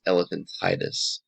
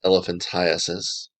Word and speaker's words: elephantiasis: Pronunciation is important here, and often you'll hear someone refer to this as elephantitis. Elephantitis literally means inflammation of an elephant, which you don't have in your body. So the correct pronunciation here is elephantiasis.